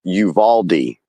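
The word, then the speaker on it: Uvalde: I was saying that the pronunciation of that school is Uvaldi Oh I thought I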